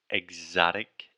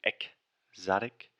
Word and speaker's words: exotic: alexia mispronounced the word exotic exotic so she was saying a chaotic but imagine you were saying exotic like you were saying the word egg almost like oh and then